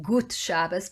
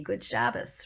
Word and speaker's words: gut Shabbos: Because it's really gut, G-U-T. In Yiddish it would be gut Shabbos, but in English we say good, G-O-O-D, good Shabbos, right?